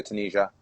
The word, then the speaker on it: Tunisia: yes, Tunisia.